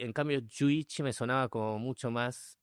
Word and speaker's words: Jú Ichi: Se escribe juichi, pero se pronuncia y juichi, que significa 11 en japonés, que tampoco es 11.